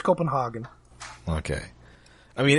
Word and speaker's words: Copenhagen: Oh, they mispronounce it in the show. They say Copenhagen. It's Copenhagen? I'm pretty sure it's Copenhagen.